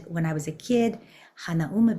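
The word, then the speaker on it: Hanauma: I was a kid hanum Bay if you're saying it correctly but I say Han Bay uh you walk down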